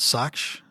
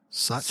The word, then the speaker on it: Sachs: How do you pronounce it? Socks. Socks.